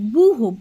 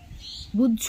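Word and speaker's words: ব্যূহ: এই মানে চক্রবহ মানে বুহ মানে একচুয়ালি বিষয়টা হচ্ছে বুহ বুঝ নয় কিন্তু খ এ জ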